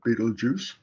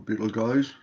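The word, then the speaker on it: Betelgeuse: have a look at beetlejuice or beetle guys depends which side of the atlantic you live on how you pronounce it this star is pretty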